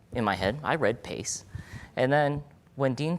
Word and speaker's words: PACCE: And PACCE, which I think should be pronounced PACE, in my opinion, stands for the Primary Accelerated Continuity Care Experience.